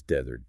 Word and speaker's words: desert: Oh, that word is desert. Dert. The emphasis is entirely on the first part.